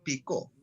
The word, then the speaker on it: Picó: Se puede pronunciar, si lleva tilde, Picó. Si no lleva tilde, Pico.